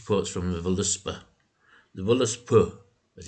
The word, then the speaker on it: Völuspá: The Völuspá, as it's properly pronounced, is the first poem of the Poetic